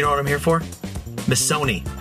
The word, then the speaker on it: Missoni: Missoni. Rhymes with macaroni.